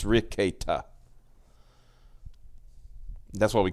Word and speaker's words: Rekieta: It's Nick Rekieta. That's how you pronounce. It's Rekieta.